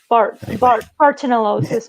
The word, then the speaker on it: Bartonellosis: How was that pronounced? Bartonellosis, but we just say Bartonella, however you want to.